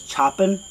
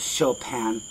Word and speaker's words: Chopin: chopin now i know her name looks like it says choppin but you pronounce it chopin and that's found on